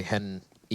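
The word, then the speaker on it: HEN1: It's kind of interesting how for Henny, you say Hen E, you pronounce the 1, but for Lucas, you just ignore the 1.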